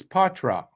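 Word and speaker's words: Poitras: in uh in um in Boston Matthew uh porra but he's not he's not from Quebec and it's Patra that's how they pronounce it that's how he pronounces it that's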